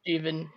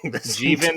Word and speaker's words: Jeevan: Yeah, it's Jeevan. Mm-hmm. Oh fuck! I've been saying it wrong. Jeevan rhymes with Steven.